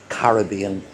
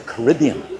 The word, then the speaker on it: Caribbean: So, there's just one more chamber and that will have brought us down the 85 ft into the Caribbean or the Caribbean, whatever way you want to pronounce it.